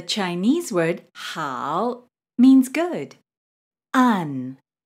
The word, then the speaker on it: an: An. Be careful with this one because in English it looks like an. It's actually pronounced as un, just like the un in the English word run.